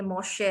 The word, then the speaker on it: Moche: Number 3 में है मोशे culture, MOCHE, वही जो लोग मतलब कॉफी पीना पसंद करते हैं आपके जैसे, इसका मौका नहीं ये, बट ये मोशे है, MOCHE कल्चर।